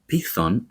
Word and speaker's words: Python: Python, as we say the word in Greek, was an underground creature of Gaia.